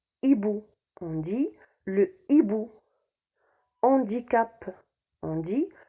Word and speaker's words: hibou: on dit la hache et bout on dit le hibou handicap on dit le handicap haricots ont dit